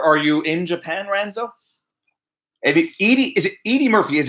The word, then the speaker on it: Edie: Okay, so everyone who sees Edie Murphy got a great channel. Her name is pronounced Edie.